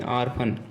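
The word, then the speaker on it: orphan: तो ओ का उच्चारण यहाँ भी हम आ के रूप में कर रहे हैं, आर्फन। अब ओ के बाद आता है पी लेटर।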